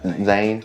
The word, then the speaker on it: Zahn: the teacher got about that huh Steve Zahn Zane how you pronounce his name I love him in all his movies Zane yeah love him in a Saving Silverman it's